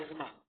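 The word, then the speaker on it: asthma: एक और बीमारी होती है एज्मा, इसको लोग अस्थमा कहते हैं।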